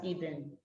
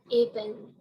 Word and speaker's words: Ibn: You pronounce it as Ibn. Ibn.